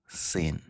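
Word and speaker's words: zehn: 3 equal to dry, 10 equal to sen.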